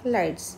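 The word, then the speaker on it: ylides: Sulfur lights, Y is silent, so we call it as sulfur lights.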